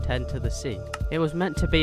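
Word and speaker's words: 0x10c: a different name which apparently is pronounced 10 to the Sea it was meant to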